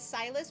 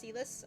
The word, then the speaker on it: Sylas: my romance with cus it's going to read as silus but they pronounced it as cus um in in the voice acting um so you're going